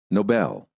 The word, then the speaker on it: Nobel: Dangers of stressing the wrong syllable. Stressing the wrong syllable sometimes creates misunderstandings because people think you're pronouncing a completely different word. The following words are great examples of why syllable stress is such an important component of the American accent. Listen and repeat.